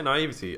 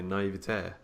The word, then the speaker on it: naivety: We say naivety. I'm sure I've heard a lot of Americans say naivete. Like they have like the accent on the end, and I've always thought that wasn't right. I always thought it's naivety, surely.